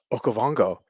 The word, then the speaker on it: Okavango: level you know um did bobby just correctly pronounce okavango i did i did i did i still